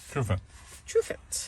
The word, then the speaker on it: Trufant: So in Michigan, we stayed in Trufant. Trufant. That's how the locals say it.